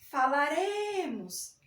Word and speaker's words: falaremos: Por exemplo, falaremos, andareis. Ó, falaremos, falaremos. Então, note que o acento tônico, a sílaba tônica está no re.